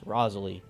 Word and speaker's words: Rosalie: berry pops let's go the berry no one can pronounce except me because it's Rosalie and if you think otherwise I'm sorry but you are wrong uh John is now